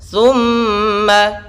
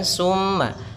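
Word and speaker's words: ثُمَّ: Thumma ditahan dahulu suara nya karena di sini ada bacaan gunnah. Thumma, hati-hati dalam pelafalan sa, si, su. Thumma, jangan summa, tapi thumma kalla, kalla, la 2 harakat.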